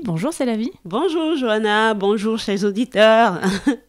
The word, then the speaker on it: Selavie: Vous l'aurez compris, l'abécédaire pour cette émission s'intitule S comme C'est la vie, puisque c'est un très joli prénom et ça s'écrit S-E-L-A-V-I-E.